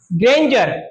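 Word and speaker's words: grandeur: डी के बाद में ई यू आर आया है जी आर एन डी ई यू आर तो क्या पढ़ेंगे इसको आप ग्रेंजर क्या पढ़ेंगे ग्रेंजर ये बातें काम की है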